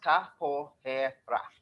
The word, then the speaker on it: capoeira: desire to know more capoeira and pronounced Kapoor hair rock what is it so